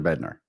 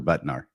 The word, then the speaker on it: Bednar: Elder Bednar. Yes. Did I say it wrong? What did I call him? I think you call him Elder Butnar.